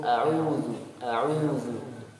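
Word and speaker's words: أعوذ: Kemudian huruf waw, kesalahan berikutnya wawnya tidak sempurna. Tidak sempurna domahnya. Atau terlalu berlebihan. Ya, cukup a'udzu. Kemudian dalnya ya, salah apabila diucapkan dengan tebal. A'udzu ya, nanti tertukar dengan huruf dha.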